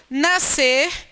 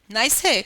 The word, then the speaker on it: nascer: Nascer. Por que eu não poderia pronunciar nascer? Porque na regra de norma culta, você encontra SC antes de E, com o som de S.